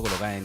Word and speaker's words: Lorijn: The handle is at Lorin, that is spelled Lorijn.